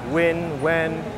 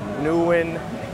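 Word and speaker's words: Nguyễn: the famous Yuren Hu walking street or if you anglicize the name it's Wen New Yen Newin. People all pronounce that um last name or family name differently depending on like their preference. The only true way to say it is the Vietnamese way.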